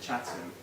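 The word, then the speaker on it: Chatham: in oh yeah and it took me a long time to pronounce it chattam not I'm from chatam me right in it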